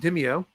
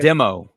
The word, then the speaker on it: Demio: If you haven't heard about it, it's called Dimeo. Am I saying it correctly? How'd I do? Nope. You did terrible. It's called Demo. Demo. I always Demo rhymes with demo.